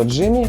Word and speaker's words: XGIMI: это так так что название компании читается просто Джимми и надо признать что всё это время я называл её неверно и не факт что